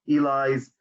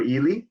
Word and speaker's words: Ely: One of the greatest debates in the US is whether to pronounce his name as Eli or Ely, but I would say Eli just because I think it's better.